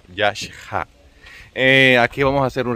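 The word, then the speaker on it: Yaxhá: En maya, como nos explicaba Ricardo, la X se pronuncia como CH, digamos, como SH, y la H tiene sonido, por eso se pronuncia Yakha.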